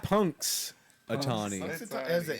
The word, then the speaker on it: Punxsutawney: Puxatawny. Has an N Punk- in there? yeah, there's an I don't N, think it's P-U-N. pronounced. I think it's a silent N because I remember them saying Puxatawny. Punxsutawney Phil.